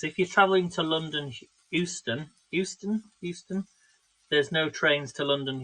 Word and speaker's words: Euston: So, and thankfully, the only works were happening is if you're travelling to London, Euston. There's no trains to London, Euston. Not Houston, Euston.